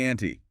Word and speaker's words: ante: And pronounced like the name Annie, right? Up the Annie.